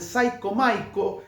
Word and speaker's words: Cyco Miko: Creo que en 94 fue el disco, pero en 1995 saca el Psycho Maiko, como Psycho Maiko, que es el apodo, el